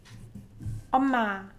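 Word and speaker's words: 엄마: And this one is omma, omma. So it's not omma, omma, omma. And your lips should be pressing each other when you're pronouncing the word with mi batchim.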